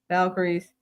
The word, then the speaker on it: Valkyries: um with everybody else that's play Lynx the aces Phoenix Mercury New York Liberty Golden State Valk is that how you pronounce it Valkyries Storm and is the Indiana Fever going to be able to make it?